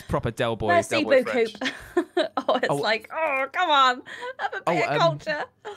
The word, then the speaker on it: merci beaucoup: That's probably the same person that when they do French, they're like Merci beaucoup and like pronounce the P. It's proper Del Boy. Merci beaucoup.